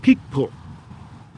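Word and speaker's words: Picpoul: bonnie dune vineyard 2021 peak pool p-i-c-p-o-u-l and they say you pronounce it p-i like p-i-k yeah it's kind of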